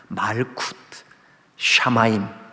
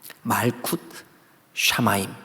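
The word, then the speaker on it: מלכות שמים: 하지만 구약 성경 을 기록 하는 데 사용 된 히브리어 에서 는 하나님 의 나라 를 이렇게 발음 합니다 . Malkuth shamayim. Malkuth shamayim.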